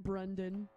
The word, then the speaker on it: Brandon: Yeah, what is the request for the guitarist, whose name is Brandon? We pronounce it Brendan.